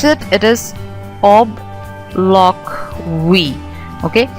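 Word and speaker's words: obloquy: however uh quite a powerful one when you pronounce it it is OB loock we okay o b l o q u y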